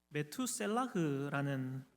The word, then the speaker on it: 므두셀라: 그리고 에녹은 자신이 낳은 아들을 여러분 무두셀라라고 이렇게 이름을 지었는데 이 히브리어로 이 이름을 정확하게 발음하자면 메투셀라흐라는 그런 발음입니다.